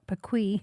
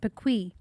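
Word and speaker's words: PKWY: PK W oh sorry PK Wy pronounced pequ so when Garmin or or Ram mcnell would talk to you exit at Buttermilk pequ I don't know what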